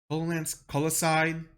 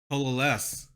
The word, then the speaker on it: coalesce: Coloside. Is it coloside? Colosed? How do you pronounce this word? All right, Siri. Colos. Pronounce it. Coalesce.